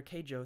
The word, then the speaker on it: Keijo: the list so far Keijo easy to say like the letter K Joe thank you so much for